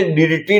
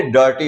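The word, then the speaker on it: dirty: तो यहां पे जो आई है उसको हमने डिटी नहीं बोला है। उसको हमने डर्टी बोला है।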